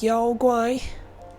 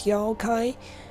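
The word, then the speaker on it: 妖怪: well japanese mythology in in chinese it's yo guai in japanese it's yokai it's really not coincidence that the pronunciation is so similar of course um and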